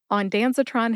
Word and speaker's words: ondansetron: started with onanon first onanon has four syllables on as in the bottle is on the Shelf Dan which is short for Daniel S like